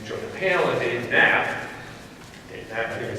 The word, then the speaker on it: Knapp: This is Dave Knapp, you know, the K is silent there, right?